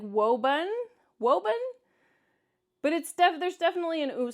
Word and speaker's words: Woburn: So this pronunciation, I don't know what they're trying to say, like Woburn, but there's definitely an oo sound. I know that there's just one O in Woburn, but it's definitely an oo sound.